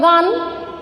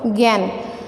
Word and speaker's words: জ্ঞান: জ্ঞান, এই যে এখানে তোমরা যে দেখি বর্গীয় জয়ে ইয় যুক্ত দন্তন্য, জ্ঞান এখানে আকার দেওয়া আছে, তাহলে হবে গান, কিন্তু না, উচ্চারণটা শুদ্ধ উচ্চারণ হলো জ্ঞান।